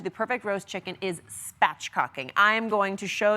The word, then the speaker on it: spatchcocking: Spatchcocking. You're gonna say them, both of those syllables together.